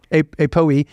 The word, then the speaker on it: APOE: apop what's what's how do you say it apoe yep a a Poe um and then what do you do once